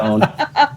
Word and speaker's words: Joan: me uh the character own in the book. Um yes, you have a caring nurturer who name is spelled Joan, but the J is silent and invisible.